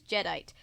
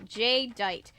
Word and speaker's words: Jedite: was an idiot yeah but my real name is spelled differently he insisted my DJ name was spelled j-a-y and that was only my first name but my bad guy name my bad guy name is spelled g-e or sorry j-e-d-i-t-e it's one word that's really stupid Serena